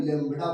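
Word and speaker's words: lambda: हैं Greek Greek लडा लडा नहीं लडा बोलते हैं बी साइलेंट हो जाती है पहचान लीजिएगा ग्रीक ये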